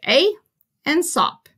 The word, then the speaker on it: Aesop: was a man named Aesop you just pronounce that like a and sup Aesop was a Greek